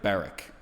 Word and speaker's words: Barak: pronounce the name so barack and i've heard barrack and i think it's english or american or british pronunciation because the brits tend to emphasize the first syllable like when they say